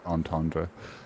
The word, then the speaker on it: entendre: Is that a double entendre, Shiva? What Albert No, said? and it's pronounced entendre.